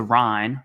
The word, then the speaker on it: Ryan: She's Lisa Ryan. That's how you pronounce her last name, in case you're curious.